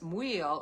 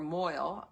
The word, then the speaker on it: Maol: and this Maol, or Moil is another way to pronounce it apparently, she is the hornless cow of Flidais, and was totally dedicated to her.